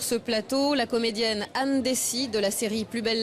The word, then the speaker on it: Dessy: Il y a un S à la fin, c'est important. Oui, pardon, bonjour. Vous perdez votre oreillette. Je perds mon oreillette. Oui, Dessy, parce qu'en fait, on le prononce vraiment à la provençale.